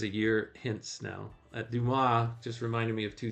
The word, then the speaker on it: Duma: and it's, you know, it's spelled D U M- A. And he goes, he goes, "Hello, Mr. Dumbass. It's nice to meet you." And the guy goes, "It's Duma." Anyway, I don't know what